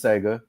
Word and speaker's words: Tsega: Her name is Sega. And first she commented on how I pronounce her name correctly, because she spells it Tsega.